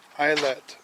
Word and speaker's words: islet: Islet is how Google says it's pronounced, without saying the T. Isle. Isle.